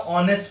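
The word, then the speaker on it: honest: एच एक कोसोनेंट की spelling हो गई। लेकिन जब इसका उच्चारण करेंगे तो हम क्या बोलते हैं? इसको ऑनेस्ट बोलते हैं।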